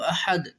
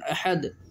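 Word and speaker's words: أحد: আছে কুলহু ওল্লাহু আহাদ কিছুগুলি মানষে পড়ে কুলহু আল্লাহু আহাদ বন্ধু সকল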